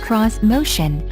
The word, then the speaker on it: Xmotion: cutting-edge crossovers and suv's this motion pronounced cross motion uses a tree row layout